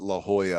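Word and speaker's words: La Jolla: town because uh the coast and um I mispronounced it when I was out there but La Hoya I really love that area yeah and I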